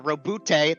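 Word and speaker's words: Robute: Um he dealt uh a an extremely lethal blow to his brother Rob uh Robbout, that's how you pronounce it, Gilaman.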